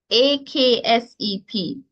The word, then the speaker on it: accept: AKSEP. Accept. Now, in Jamaican, that's the pronunciation.